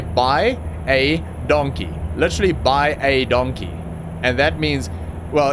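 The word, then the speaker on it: baie dankie: by a donkey literally by a donkey and that means well in Afrikaans will pronounce it by a donkey but it's so damn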